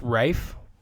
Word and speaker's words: Ralph: has it it's pronounced Rafe it's pronounced Rafe yeah he's pronounces it Rafe it's spelt Ralph but it's pronounced Rafe is there like an